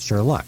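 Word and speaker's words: Shurluck: somebody the dog's name instead of Sherlock you have to say it's sh luck right do you like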